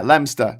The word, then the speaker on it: Leominster: Leominster. Yeah, Leominster.